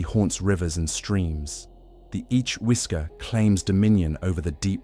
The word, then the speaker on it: Each-Uisge: The Each-Uisge, pronounced Each-Uisge, is not the water horse you may have heard of in romantic retellings or children's tales.